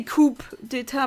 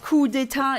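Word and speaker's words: coup d'état: I know you say coup d'etat probably, but coup d'etat is a French word, and I'm fluent in French, unfortunately, so... yeah, the French don't pronounce the P.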